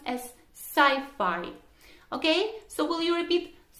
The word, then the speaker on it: sci-fi: shortened form of a science fiction that is pronounced as sci-fi okay so will you repeat sci-fi sci-fi cy5